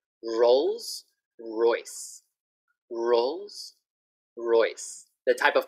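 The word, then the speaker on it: Rolls-Royce: Okay, so the sound, R, R, Rolls Royce, Rolls Royce. The type of car, right? Rolls Royce. This one is difficult because it has an R, it has an L, and the S.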